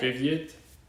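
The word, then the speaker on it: Привет: I think it's like privyet. Is that how you say it? Privyet? I've heard that word before. I'm looking this up. Privyet. That's Yeah, hello. that's the informal hello.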